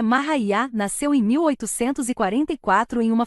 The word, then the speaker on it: Maria: para ganhar a espiritual Maria cuja pronúncia é mahá nasceu em 1844 em